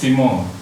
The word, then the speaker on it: Fimaul: Sebetulnya pengucapannya Vimo, biar agak keren. Vimo.